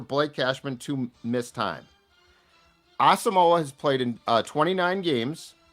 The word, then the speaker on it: Asamoah: It is Asamoah. Yep. Asamoah.